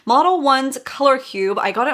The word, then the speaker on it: Modelones: to me models one model ones i think you pronounce it model ones color cube i got